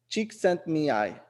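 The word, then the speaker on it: Csikszentmihalyi: Pronounce the name Mihai Chink Sen Mihai. That's how you pronounce it. Mihai is the first name. Chik Sent Mihai.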